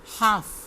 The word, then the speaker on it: half: half, इसमें भी L silent है।